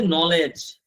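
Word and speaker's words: knowledge: এই যে নলেজ, এই যে সব যদি আমরা দেখতে পাচ্ছি নলেজ, এখানে নলেজের মধ্যে কে এটা উচ্চারণ হচ্ছে, কে এর উচ্চারণ হচ্ছে, উচ্চারণ আছে, উচ্চারণ হচ্ছে না, ঠিক আছে।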